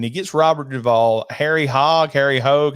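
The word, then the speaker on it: Hogge: So he's trying to start a racing team, and he gets Robert Duvall, Harry Hogue. How do you say it, Blake? He's got Hogg. Hogg is good.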